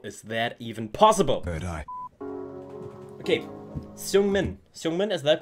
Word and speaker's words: Seungmin: Seungmin in the building. Oh, I pronounced his name really good.